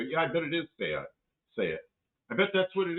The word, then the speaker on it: SEAT: Tavo says down here we pronounce it, say it.